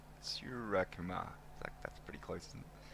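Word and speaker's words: Suryakumar: Never know with the RY how many syllables. Sky's easy. Sky's easy to say. Sky, yep. How many syllables you put in there. And that one, just a forward defensive, back to the bowler and a run. You almost have to add an I between the R and the Y, so Surya.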